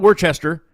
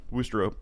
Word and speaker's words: Worcester: Way up and it's not Worcester because it looks like it says Worcester, because we Americans don't know how to pronounce anything. So not Worcestershire sauce or anything like that. Anyway, yeah, Worcester, Massachusetts.